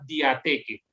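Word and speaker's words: διαθήκη: La palabra concreta que se utilizó en la traducción griega del Antiguo Testamento es la que ustedes ven en pantalla y se pronuncia diateque.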